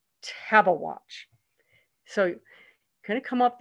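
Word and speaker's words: Tabeguache: and by the way this word is spelled pronounced table watch table watch so kind of come up this very long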